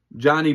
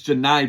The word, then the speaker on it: Janai: And they're also led by a star player, uh Johnny Broom or Janai Broom, excuse me. I've been mispronouncing his name for like the past three weeks. I do apologize. It's Janai Broom, not Johnny Broom.